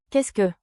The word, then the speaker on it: qu'est-ce que: Pronunciation beat, clap with me. k e h sk, k e h sk.